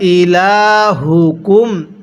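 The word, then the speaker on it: إلهكم: আর স্মরণ রাখবেন এরকম যখন গোল হা দেখবেন ওই হাগুলো উচ্চারণের সময় মুখ দিয়ে হালকা আওয়াজ করতে হবে। যদি ওয়া ইলাহুকুম পড়ি এই হাটা উচ্চারণের সময় মুখ দিয়ে হালকা বাতাস বের করি তাহলে পড়াটা সহিশুদ্ধ হবে না।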